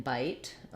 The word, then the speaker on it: bit: So letter I is going to say the I diphthong in bite because the E is there. Versus in bit, the letter I is going to say the I sound as in big or in.